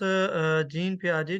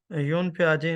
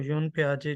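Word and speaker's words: Jean Piaget: तो सबसे पहले हमारे पास जीन पियाजे जो हैं, योन पियाजे, इनको अगर करेक्ट हम इसको प्रोनाउंसिएशन करें तो इनको योन पियाजे जो है ना वो कहा जाता है।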